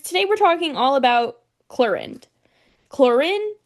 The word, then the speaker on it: Clorinde: So, travelers, today we're talking all about chlorin. Chlorin. Chlorend. Am I really supposed to pronounce the D? You should never leave out the D. Think it's more like chloran.